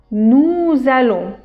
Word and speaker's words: nous allons: Je fais une liaison entre nous et allons parce que à la fin de nous il y a s et allon il y a. Donc nous ça va faire une liaison avec le a.